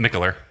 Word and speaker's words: Mikkeller: Mikkeller.